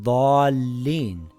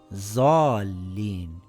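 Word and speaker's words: الضالين: For example, we say the letter dad in daaleen. We don't say zaalin or daaleen.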